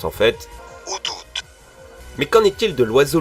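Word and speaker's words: Ho-Oh: comme on prononce l'hibou de la même génération, out, qui se prononce en fait Outout.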